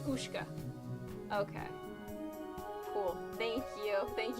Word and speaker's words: Ushka: Very different bands, but uh yeah, in English name is pronounced Oka. Oshka Oshka is so it's Ushka.